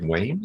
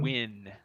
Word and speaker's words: Wynne: Did you say Wayne? Is that her name? Wayne? Wynne. So it's Wynne. W-Y-N-N-E. W-Y-N-N. Okay. Wynne. Pronounced like W-I-N.